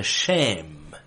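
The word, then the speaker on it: שֵׁם: word for name is shem is pronounced with long a you say shame in some passages i'll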